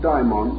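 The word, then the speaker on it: daimon: today for many years I made a point of dividing the pronunciation calling one our familiar term the term demon and the Greek form diamond or Babel the dictionary however prefers us to use the same pronunciation but let us bear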